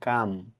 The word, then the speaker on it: calm: CALM, কাম মানে শান্ত হও, এখানেও এল লেটারটি সাইলেন্ট থাকবে।